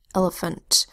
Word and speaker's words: elephant: The second and the third vowel sounds in elephant are schwa sounds. So I will say to spell L-E, phant. L is closed syllable, short E, and L that says ul. E is that middle vowel sound. When you say to spell, it's just a long E, it's an open syllable, but it reduces down to a schwa sound when you say it in normal, casual speech.